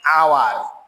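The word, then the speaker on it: hour: তারপরে দেখো ওয়ার্ডের শুরুতে এইচ থেকেও এর উচ্চারণের সময় যদি এটা সাইলেন্ট থাকে বা উচ্চারিত না হয় তার আগে সাধারণত এন বসে, যেমন এন আওয়ার, N honest man, এন এয়ার, N honourable teacher.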